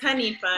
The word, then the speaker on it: Hanifa: I always say it wrong, and I feel like I say it wrong. It's Hanifa. Hanifa.